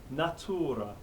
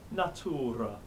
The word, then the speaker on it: natura: Natura, not nature, but natura. The stress is in a different place here too. There's going to be some of that. We'll come on to it in a bit, but natura, 3 syllables.